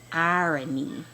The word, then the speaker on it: irony: The word is pronounced irony, like IRENE, irony.